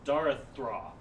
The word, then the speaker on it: Darathra: I keep wanting to say her name wrong. It's Darathra. Darathra.